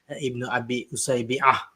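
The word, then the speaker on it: Ibn Abi Usaybi'a: So to start off, actually the pronunciation of the name is Ibn Abi Usaybi with the Ain.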